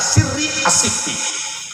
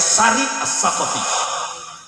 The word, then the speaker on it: Sari As-Saqati: Kalau santri Babakan Ciwaringin bacanya Sirri As-Sifti, kalau saya Sari As-Saqati.